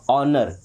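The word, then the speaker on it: honor: एच के बाद ओ तो एच गया। अब क्या बचा यहां पे? एच तो गया। ओ एन आर बचा। यानी कि क्या पढ़ेंगे? ऑनर।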